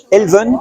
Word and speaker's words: Elven: le voit s'humaniser d'accord alors ensuite je vois Elven c'est ça comme ça qu'on prononce oui alors Elvin donc c'est vrai qu' alors vu que c'est breton on peut penser que c'est ce sont dixit des Bretons donc on dit Alvin quand c'est dans les